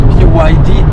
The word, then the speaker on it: BYD: nous essayons aujourd'hui la byyd Dolphine alors qu'est-ce que c'est que ça donc BYD ces trois lettres by yd se prononcent à l'anglaise parce qu'elle signifie build your dreams en l'occurrence il s'agit